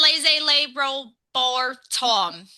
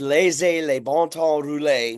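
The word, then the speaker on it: laissez les bons temps rouler: Yeah, don't Miss Ohio over here can't pronounce. It's laissez les bon temps rouler, which for those that don't know, it's let the good times roll in French, in Cajun French.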